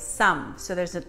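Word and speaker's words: 쌈: a misspelled SSA n so people call it Sam or slam but it's not it's some so there's an H in there that's kind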